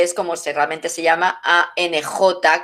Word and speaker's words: Ankh: como realmente se llama ANJ, que es como se escribe, no como otras, lo veréis por ahí, ANKH, es ANJ, Ankh, que quiere decir vida, ni cruz, ni llave, ni nada.